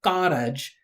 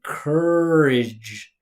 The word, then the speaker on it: courage: This is not car. This is the sound just like bird, church, worm, work. All it is is so instead of carage, she should say courage. Cur. Don't pronounce all those letters just cuz you see them there.